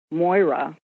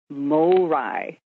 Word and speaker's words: Moira: Moira, pronounce it correctly, it's Morai, is coming out later this year.